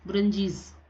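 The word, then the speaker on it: Buranjis: क्या कहा जाता है, बुरंजीज, क्या बोलते हैं, बुरंजीज, बुरन ये आएगा बुरंजीज, ठीक है। और स्पेलिंग आप ध्यान से देख लीजिएगा, बुरंजीज।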